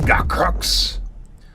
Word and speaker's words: Gakrooks: Bill does not pronounce it right. It's Gakrooks. You gotta get that Klingon in there, you know.